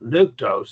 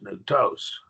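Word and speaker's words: νυκτός: remember them all right so this has only one syllable so the accent goes on the last syllable always and so nutos it's not nuktos it's new toast not pure Rose it's puros all right any questions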